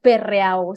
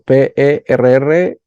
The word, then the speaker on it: Perreau: Bueno, vamos a pronunciarlo bien. Bueno, pero para que me encuentren mejor, lo has dicho bien, Perreau, sí, porque así me encontrarán, si no. Exacto, Perreau.